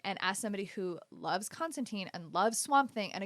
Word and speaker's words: Constantine: just came came out um I know it's pronounced Constantine it's never going to happen um it's is never going to happen everybody I'm going to say constanting till the day I die and Alan MO